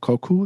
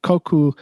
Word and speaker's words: koku: okay something like that so koku in not in french it's japanese and it's koku not koku um it's open source um